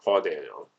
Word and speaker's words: Dano: I think the actor's how you pronounce his name is Paul Dano. There we go, Paul Dano.